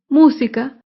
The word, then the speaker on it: música: ejemplo la palabra música música se acentúa en la antepenúltima sílaba música todas las palabras estrujulas